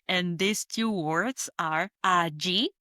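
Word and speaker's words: allí: And these two words are a gi spelled A L L I with an accent on the I or a A spelled A L L A with accent on the last A.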